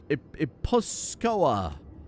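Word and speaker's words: Gipuzkoa: I would like to conquer the duchy of Iposkoa, which is how that's pronounced.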